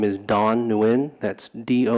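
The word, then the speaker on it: Nguyen: new and if you would please state your name and spell it for the record yes good morning my name is dawn neuen that's do n 10 G u Y E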